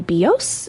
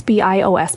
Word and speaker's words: BIOS: It is not the BIOS. It's not the BOS and it's I get it. It's confusing. It's all caps. It's B I OS. But that is BIOS.